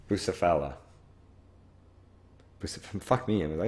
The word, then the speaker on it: Bucephala: Bucephalia. Bucephala.